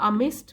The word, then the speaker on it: amidst: नेसल्ड मतलब उनके बीच में बना हुआ एक घर, और अमिस्ट मतलब बीच में, यहाँ पर भी डी साइलेंट है।